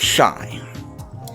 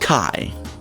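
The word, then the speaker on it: chi: I know this isn't pronounced shy. It's pronounced Kai. I went through the trouble of looking it up. Wikipedia, incidentally, has a very helpful pronunciation guide. Kai.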